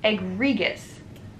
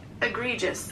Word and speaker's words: egregious: never heard of that egg regis hold up hold up egregious egregious it's just egregious number five oh my